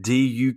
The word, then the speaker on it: Duquesne: this school spelled before it does not at all look like duquesne but it is in fact duquesne d-u-q-u-e-s-n-e that is known the whole middle syllable is just not pronounced it's duquesne yeah ccny defeats this